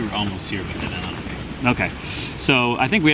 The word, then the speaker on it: Onaway: Onaway. Once we got to Onaway, things picked up finally, because we were about halfway there. We were almost here, but then Onaway.